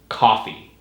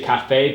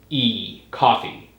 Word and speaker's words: coffee: Here's the issue is in English it's coffee. I mean, if you say cafe, people will guess what you're talking about, but it sounds like very fancy. So it's coffee.